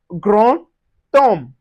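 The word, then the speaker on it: grand temps: We also have gron tom. gron tom Yeah, the D changes to a T and we pronounce ti gron tom.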